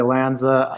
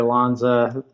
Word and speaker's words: Lanza: I tend to say Lanza. Some people say Lanza. Like Tony Danza. Right, exactly. I got Whatever it. works. The most famous Lanza is Mario Lanza, the singer, and he's usually pronounced Lanza. So who am I to